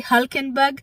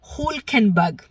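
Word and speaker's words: Hülkenberg: And uh hey, P3, I'm going to try and say his name correctly because I always say Hulenberg, but from all of Ricardo's videos, it happens to be Hulkenberg.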